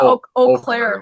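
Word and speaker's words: Eau Claire: Uclair. Is that how they pronounce it? Yeah. Oaklair.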